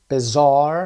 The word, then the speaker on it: bizarre: demanding صدای man، flustered، bizarre صدای زار هست، think on their feet